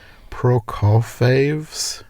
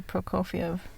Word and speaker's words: Prokofiev: i'm going to probably butcher the pronunciation is sergey pro call faves peter and the wolf i think it might be prokofiev probably surrogate is a